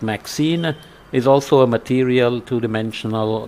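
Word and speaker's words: MXene: uh MXEN maybe it's pronounced maxine is also a material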